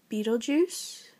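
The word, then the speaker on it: Betelgeuse: inja Stars called uh Beetle Juice I know it doesn't look like the way it's pronounced but that's that's how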